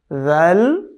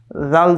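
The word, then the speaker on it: ذ: একটা হচ্ছে জিম, তারপরে জাল, তারপরে ঝা, তারপরে র। কেমন? চারটির উচ্চারণ, এই যে পার্থক্যগুলো এগুলো খেয়াল করতে হবে, খুবই মনোযোগ সহকারে খেয়াল করতে হবে।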